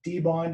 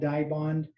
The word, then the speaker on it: Dibond: um why is it called uh d-bond and not dibond you know some of our guesses are it was originally created as a display material so display bond other guesses have been that the pronunciation for the letter i in some countries is e so that's how we get it but for most of